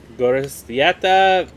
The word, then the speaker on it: Gorostieta: Gorostieta Velarde.